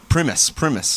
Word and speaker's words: Primus: Oh my God, Primus is how you say his last name.